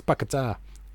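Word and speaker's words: Paquetá: Even though I think it's Paqueta is the correct pronunciation of it.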